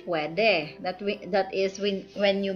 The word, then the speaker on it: pwede: So, pwede. Okay. You say pwede.